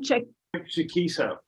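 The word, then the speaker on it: Chaquico: Chikisa.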